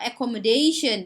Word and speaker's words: accommodation: number it is accommodation accommodate เน้นหนักไปที่ day นะคะ accommodation แปลว่าที่พักค่ะ alright and location นะคะแปลว่าสถานที่ค่ะ everybody knows location these days it's like แชร์ online location หน่อย yeah, แชร์ location yeah.